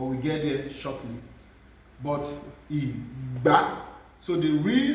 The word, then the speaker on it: ìgbá: That's GB pronounced together. Is Igba, do mi, ìgbá.